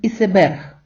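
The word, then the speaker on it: iceberg: одне цікаве слово Айсберг по те що написання англійською та іспанською однакове іспанці вимовляють слово як ісеберг ісеберг повторіть декілька разів аби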